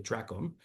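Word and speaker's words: drakon: I said darkon, but it's really a dracon because a serpent, right?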